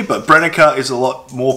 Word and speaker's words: Brenneke: of people pronounce that brenneke uh my german friends say it's brennecker i'm gonna say that german's a bit more correct and i'm probably not exactly pronouncing it correctly but brennika is a lot more